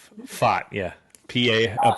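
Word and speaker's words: Pfaadt: Paddock I thought yeah I call him fart because it sounds like but it's fought yeah PA a p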